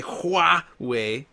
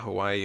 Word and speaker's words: Huawei: I would say Huawei because it's, I guess how you pronounce it, not Hawaii or Hu.